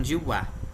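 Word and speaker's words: では: Então, por isso que a gente usa o som de wa, ok?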